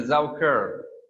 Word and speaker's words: Saukerl: A man is a Saukerl, Saukerl, K-E-R-L.